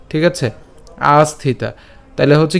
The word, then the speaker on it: আস্থিতা: তাহলে একসাথে যদি উচ্চারণ করতে যাই তখন তার উচ্চারণ হবে আস্থিতা ঠিক আছে আস্থিতা তহলে হচ্ছে কি হবে কর্মনৈব হিসং সিদ্ধিম আস্থিতা জনকাদয় আস্থিতা জনকাদয় এরপর লোক সংগ্রহম এইযে আমরা